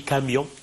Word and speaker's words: camion: Le cas ici, au qui de pied, le cas du mot aussi camion. Camion, normalement, je peux l'avoir en deux syllabes, mion, ou bien ka, mi, yon.